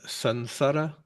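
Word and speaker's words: saṃsāra: Is Sansara a fourth Varga as well? Yeah, the S is a fourth Varga sibilant S. So we would change it to an N, sansara.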